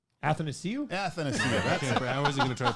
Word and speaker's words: Athanasiou: Athanasiou. I wasn't gonna try to pronounce it.